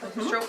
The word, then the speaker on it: stroop: This is called a stroop waffle.